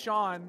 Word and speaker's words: Sean: named sea spelled Sean did not know that's pronounced Shawn until like a couple